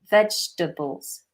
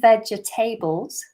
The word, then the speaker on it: vegetables: Notice how I pronounce that. Vegetables. Vegetables. I'm not saying vegetables, which is what some people do, and that's understandable because we have the word table in the actual word vegetable, but we don't